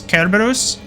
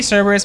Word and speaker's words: Cerberus: I think, correct me if I'm wrong, but I'm pretty sure that the correct pronunciation of Cerberus is Kerberos. I think. I think that's how you actually pronounce it, but I say Cerberus because it doesn't sound as stupid and dumb.